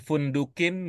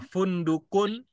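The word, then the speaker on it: فُنْدُقٌ: fundunun apa ilmunya kita membacanya fundukun bukan fundukin bukan fundukon Alif lamunduku tidak pakai Al ini lag Ya simak lagi ya itunya ee pertanyaan pemandunya apa ilmunya kita membaca fundukun bukan fundukqon bukan fundukin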